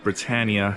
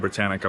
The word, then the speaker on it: Britannia: So I was corrected that it's pronounced Britannia and not Britannica like I've been saying.